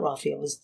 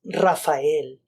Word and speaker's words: Raphael: is Rafael as well but my name is not Rafael it's Raphael and growing up my